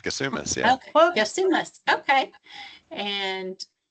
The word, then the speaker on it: Gassoumis: I will tell you a little bit about Zachary Gassoumis. I'm sorry, I can't remember if I asked you how to pronounce it. You got it right, Gassoumis.